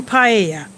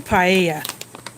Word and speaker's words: paella: to get the salmon paella in spanish the double l is pronounced like almost like a y well this does not